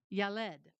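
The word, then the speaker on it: ילד: And the word child is it's pronounced yalled spelled ye le. So it' be yalled.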